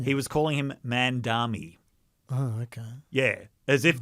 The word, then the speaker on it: Mamdani: It's a 3-syllable name. Yeah. It's very phonetic.